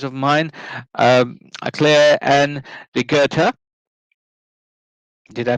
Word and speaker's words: Rigerta: very good friends of mine uh claire and regerta did i pronounce your name correctly yes you did yes